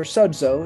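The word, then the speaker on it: σῴζω: No, Crino is judgment, and sozo or sodzo, as it's pronounced.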